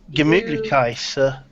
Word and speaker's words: Gemütlichkeit: Well, Meki says you got the pronunciation quite right, so that's fair enough.